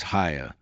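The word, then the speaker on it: Haigha: His name is Ha. He pronounced it so as to rhyme with mayor.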